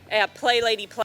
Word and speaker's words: Play Lady Play: Play Lady Play is actually how you pronounce her name.